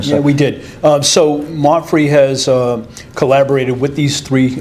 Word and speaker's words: MAPFRE: They are from MAPFRE Insurance.